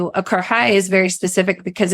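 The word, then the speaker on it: karahi: Pronounce it for us again. It's Pakistani karhai.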